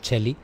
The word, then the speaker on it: Chelli: Lo digo lo de la doble L, aunque digamos Chelli, pero se escribe con doble L, ¿vale?